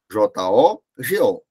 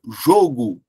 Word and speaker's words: jogo: a escrita é igual O que é que diferencia a pronúncia jogo substantivo com o fechado e jogo do verbo jogar pronúncia com o aberto Então eu tenho aí